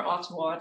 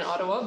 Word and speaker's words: Ottawa: want you to realize you don't say ottawa like that yes although it is also the case that why anger settlers say ottawa because they don't pronounce that t's in general i'm going to